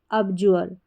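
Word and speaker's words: abjure: तो पूरा उच्चारण हो गया ए बी अब और जे यू आर ई, जुअर, अब जुअर, अब जुअर।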